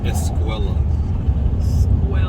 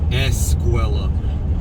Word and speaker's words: escuela: up it it's pronounced escuela no escuela escuela starts with an e not an s oh is speaking spanish